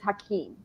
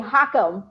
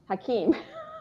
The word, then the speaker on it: Hakeem: my main name is hakeem i'm middle eastern my dad's from iraq and when people call me hakum i'd be like no dude no hakeem so i have like